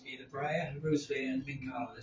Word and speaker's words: Mincarlo: How do you pronounce it? Mincarlo. Mincarlo.